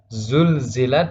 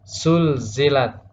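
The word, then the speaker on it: زلزلت: Misalnya pada kata masih sama, zulzilat dibaca sulzilat. Sulsilat tidak boleh. Dan yang terakhir atau yang ketiga yang umum terjadi, dan ini banyak terjadi di masyarakat, yaitu huruf za menjadi ya, sehingga bacanya zulzilat menjadi yulyilat.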